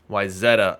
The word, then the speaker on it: Wayzata: We've got the team I always mispronounce, but I believe that's Wayzata, not Wayzata. The Brooklyn Cyclones. Wayzata.